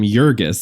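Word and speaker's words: Jurgis: Do you notice the boss at the diner calls him Yurgis? Which I think is how it should be pronounced.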